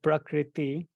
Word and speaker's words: prakriti: represent nature or brother the word prakriti is made of three syllables describes prakritri as Das